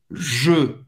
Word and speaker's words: Je: Je. Você vai pronunciar E fechado. E. Faz a boca do O e fala E. E. Je.